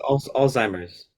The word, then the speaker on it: Alzheimer's: of his parents and it just pronounced Alzheimer's Alzheimer's Alzheimer's is a z granted you can say it yeah it does sound like old-timer like a like an old person but it's Alzheimer's yeah anyway say blame